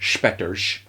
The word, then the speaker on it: Spetters: I've only actually seen one of them called Spetters, as they say in Holland, Spetters, right? That's how they pronounce it.